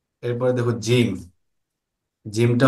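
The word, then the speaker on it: جيم: জিমটা হলো জিহ্বার মধ্যখান তার বরাবর উপরের তালুর সঙ্গে লাগিয়ে।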